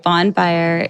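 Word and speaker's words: Bonne Fire: It's just Bonfire ATL, but it's spelled BONNE, Fire, FIRE, ATL.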